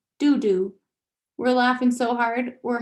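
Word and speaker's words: đu đủ: piglets excited i yell i think it's pronounced do d i'm stabbing at the image best food papaya your favorite food food is papaya by the time i teach her do d she teaches me dudu we're laughing so hard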